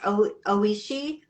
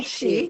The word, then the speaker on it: Oishi: Oh, and it's pronounced Oishi.